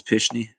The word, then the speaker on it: Pishney: You're actually saying it right, so it's Pishney.